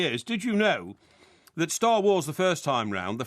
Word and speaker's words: Star Wars: The emphasis is on the first word. Star Wars. No, not Star Wars. It's Star Wars.